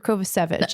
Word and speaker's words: Kovacevic: Is it Kovacevic or Kovacevic? It's Kovacevic. It is Kovacevic, and I said it